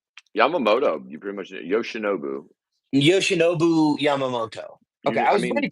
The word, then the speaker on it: Yoshinobu Yamamoto: don't even try to get me to pronounce fucking Yoshi's name. Yoshinito Yamamoto, like Yamamoto. You pretty much Yoshinobu. Yoshinobu Yamamoto.